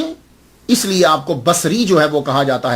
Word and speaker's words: بصری: یاد رکھیے گا کہ جب آپ اس کو تلفظ کریں گے تو باساری نہیں کریں گے، سواد کے اوپر زبر نہیں پڑیں گے۔ اگر آپ نے سواد